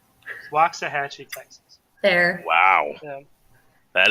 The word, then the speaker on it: Waxahachie: Waxahachie, I believe, is the proper pronunciation.